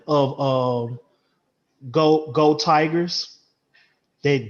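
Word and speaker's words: geaux: that spelling of um go go tigers that g-e-a-u g-e-a-u-x that's how you say that that say russo it's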